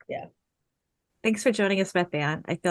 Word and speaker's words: Bethann: And do we pronounce Well- it Bethann or Bethann or? Bethann.